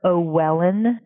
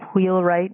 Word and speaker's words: Wheelwright: At one point, he refers to her as Esther O'Wellen. French people have trouble, I think, pronouncing and thinking of the name Wheelwright with the hua sound as the initial consonant there.